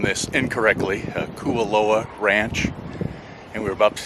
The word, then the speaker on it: Kualoa: This is pronounced Kualoa.